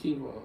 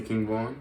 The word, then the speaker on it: King Von: It's King Von. It's like one word.